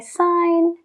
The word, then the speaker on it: sign: otras no por ejemplo la palabra firmar tiene una G antes de la n pero pronunciamos Sign I Sign you Sign he signs entonces en el verbo no pronunciamos esa g pero en el sustantivo